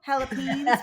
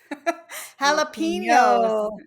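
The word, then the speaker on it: jalapeños: Jalapen for our drinks. We need a pronunciation lesson. Jalapenos. Yes. Very good.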